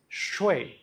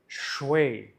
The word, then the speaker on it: chui: Okay, now the sound is CHUueeyy, commonly spelled as CHUI, but pronounced as CHUueeyy.